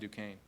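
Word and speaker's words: Duquesne: How do you say that? Dukane. It doesn't look anything like Dukane.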